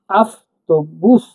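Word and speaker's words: автобус: হয় বাসকে বলা হয় আফত বুস আফত বুস বুস মানে বাস ঠিক আছে বাসকে বুস বলছি আমরা দেখুন এ টি ও বি ইউ এস বাস বাসকে এরা কারা বুস উচ্চারণ করছে এখানে তাহলে আফত বুস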